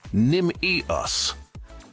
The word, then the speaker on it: Nimius: To pronounce Nimius, are you it serious? Sounds like Nim-e-us.